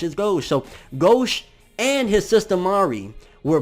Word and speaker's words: Gauche: of Allah was taking Grolsch that's how you pronounce many people say it's not gosh it goes so gauche and his sister Mari were both essentially turned